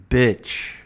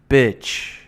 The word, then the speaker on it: bitch: Bitch. Just think about it like this. Think about it like the letter B and then the word itch. Right? The T is silent in the word itch. Itch. Bitch.